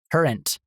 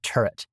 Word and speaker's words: turret: I used to think turrets were called trens like an N. So it was I used to think they were spelled t u r e n t. Trent instead of turret. And I pronounced it. Oh, we got to install tren like and like oh we need base tren like for like years like I'm not I'm not even joking until like I was 30 I pronounced it tren and then someone eventually